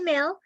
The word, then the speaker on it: Mehl: And tonight we are so excited because we have with us the amazing Mehl. Am I pronouncing your name correctly?